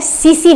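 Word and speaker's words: tsetse: सीसी मक्खी। Spelling T से start होती है, टी साइलेंट होता है, TSEE, ध्यान रखिएगा।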